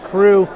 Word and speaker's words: Cru: crew for a second crew is spelled c-r-u like the french wine appalachian right so it's